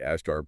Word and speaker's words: Ashtar: himself as ashtar right ashtar pronounced just like it spelled exactly and then the other